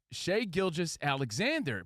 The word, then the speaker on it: Shai Gilgeous-Alexander: It's Shai Gilgeous-Alexander.